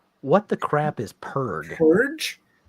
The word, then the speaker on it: Purg: Purge? Purge? It's pronounced purge.